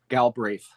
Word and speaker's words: Galbraith: Galbraith? There There's a couple of ways There's a couple of ways that it gets pronounced. My family's always just completely phonetic. Galbraith.